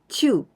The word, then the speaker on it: 中: For example, 6 本中, 6 本中, because here we all pronounce this kanji like chu.